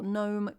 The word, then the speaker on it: gnome: We've got some weird letters like mnemonic, gnome. I've got silent letters at the front, so Psyche. And knee.